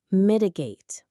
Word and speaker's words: mitigate: Let's say it together slowly. Migate. Three parts. Migate. The stress is right on the first part. Mitigate. It has a nice smooth flow to it.